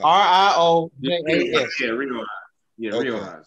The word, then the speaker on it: Riojas: Riojas. R-I-O-J-A-S.